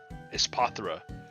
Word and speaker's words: Espathra: Espathra.